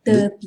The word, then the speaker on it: tepi: Di Tepi. tepi. Tepi. In Malay, we have to pronounce of a vowel E if you watch my first video. So, te and te.